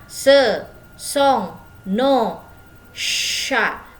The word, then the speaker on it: chats: Dibacanya ce sont nos chats. Jadi C sama H itu dibacanya sh seperti huruf shod kalau bahasa Arab.